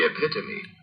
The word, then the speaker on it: epitome: features of a whole class okay so it's pronounced the epitomy all right SC yay oh that's good because